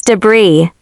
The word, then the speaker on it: debris: The as is silent. It's debris.